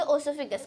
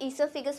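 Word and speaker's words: oesophagus: तो अब हम जानेंगे ओसोफिगस बोलते हैं, तो हम इसे ईसोफिगस प्रोनाउंस करते हैं।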